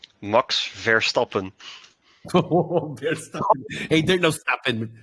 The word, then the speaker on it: Verstappen: It's always funny to hear people pronounce his name in an English tone.